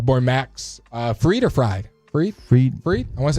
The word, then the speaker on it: Fried: Fried? I want to say it's Fried. It's Fried. Okay, making sure I'm not mispronouncing it.